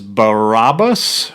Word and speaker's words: Barabbas: Their name is Barabbas, Barabbas. He's a bad guy from the Bible. Oh, okay. You pronounced it right.